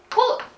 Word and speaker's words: 貢: 1 つ目のこれ読み方はこうこうって読みます意味とし